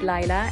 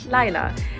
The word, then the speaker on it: Laila: My name is Laila, and yes, I'm pronounced Laila and not Laila. Many people tend to pronounce it that way, but if you do that, that's literally no problem.